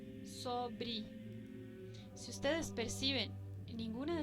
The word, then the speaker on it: sobre: Pero si no tiene ningún acento y se encuentra al final de una palabra, adquiere el sonido de una I. Por ejemplo, desde, sete, sempre, firme, forte, sobre.